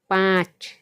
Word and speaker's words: पाँच: तो कैसे उसका उच्चारण होता है, पाँच, चांद, मतलब मुंह से भी आवाज़ निकल रही है और नाक से भी आवाज़ निकल रही है, आँख, पाँच, चांद और आँख।